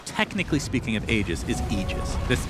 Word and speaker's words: Aegis: frog made a point okay so the correct pronunciation technically speaking of ages is aegis this it's a literal word we're going to